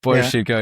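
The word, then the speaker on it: Boris Sheiko: Boris Chico is how you say his name? Yeah, Boris Chico, yeah.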